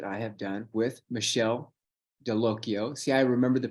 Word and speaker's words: Dallocchio: have done with Michelle delocio see I remember the pronunciation too it rhymes with Pinocchio and can you put